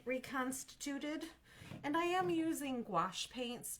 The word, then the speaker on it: gouache: And I am using gouache paints. G O U A C H E is how you spell that.